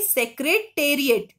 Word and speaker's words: Secretariat: Now, the Rashtrapati, R-A-S-H-T-R-A, Rashtrapati, P-A-T-I, Rashtrapati Bhavan, B-H-A-W-N, the Rashtrapati Bhavan, the Sansad Bhavan, the Central Secretariat, S-E-C, Sec-R-E-R-E, Secretariat, T-A-R-I-A-T, Tariat.